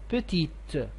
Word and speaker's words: petite: of the adjective so you had to pronounce the t petite and also the same